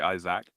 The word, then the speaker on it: Isaac: was a French person's name I would say Isaac the the the emphasis would be on the on on on the second syllable yeah but no in English I go Isaac yeah I I don't think I've ever heard